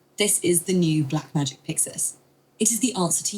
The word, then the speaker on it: PYXIS: This is the new Blackmagic PYXIS. I think what I'm going to do is essentially have to trick it to say PYXIS correctly by just typing out phonetically sounding way of PYXIS, P-I-X-I-S.